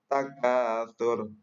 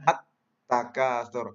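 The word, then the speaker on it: التكاثر: dal dalal dan seterusnya contoh atatur nah ini ada alif lam tapi tidak dibaca dibacanya at takatur langsung dilebur dengan huruf ta dan ciri alif lam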